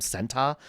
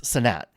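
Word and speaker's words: Kai Cenat: I pronounced it wrong for so long. I called him Senta. Uh but it's Senat Kaisenat.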